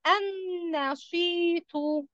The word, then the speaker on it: النشيط: طب هنا اللام لماذا لم ننطقها؟ قلنا النشيط. بسبب هي تكون لأنها لام شمسية ولا قمرية؟ قمرية.